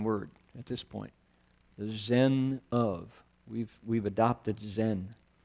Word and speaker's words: Zen: right the Chan there that word in Japanese is pronounced what Zen CH in Chinese and